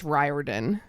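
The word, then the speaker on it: Riordan: Sorry. It's Ryarden. Oh, that's not People always say it rhymes with fire truck, and I'm like, I get what it does not, but I do get what you're saying. It's like Fireden.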